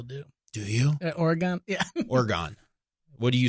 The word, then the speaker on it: Oregon: Yeah, I was worried I would do the Chicago long A kind of.